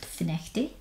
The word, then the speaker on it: Findochty: So, the admiral's in a public house in a place called Finnechty, which is spelled Findochty, so make of that what you will.